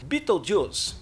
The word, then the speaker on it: Betelgeuse: Betelgeuse possui uma pronúncia meio confusa. É algo como Betelgeuse, mas, como se diz em inglês, Betelgeuse.